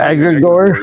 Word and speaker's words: egregore: How is it pronounced? Egregore.